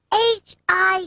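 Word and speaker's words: high: i g h hi the word hi ends with a silent g h you just sound out the first two letters h i hi the sound of the consonant H is H the vowel I has its long vowel sound I and the consonants G and H at the end are silent h i g h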